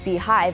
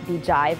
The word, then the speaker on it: BeeJive: Beehive, which is pronounced Beehive and not Beejive as I originally thought, gives you a very pleasing user interface that kind of mimics the native SMS feature on your iPhone.